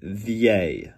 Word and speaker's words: vieille: And look at this, it's pronounced vieille, d'accord? I have people pronounce that wrong all the time, but I-L-L-E is the Y sound, so vieille.